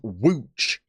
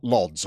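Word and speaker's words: Łódź: am only partially reliably informed we're actually playing wooch today not lods i could be making a complete fall of myself with that pronunciation but i'm going to be using it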